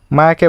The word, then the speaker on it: মায়া: মায়াকে বলে, হে মেয়া, হোয়াটসঅ্যাপ। নিজের নাম কেমন ভুল উচ্চারণ শুনে মায়া বিরক্তি মুখ কুচকে বলে, Ethan, my name is মায়া, নট মিয়া।